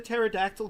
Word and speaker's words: pterodactyl: Why couldn't you hear the pterodactyl go to the bathroom? Well, because the P is silent.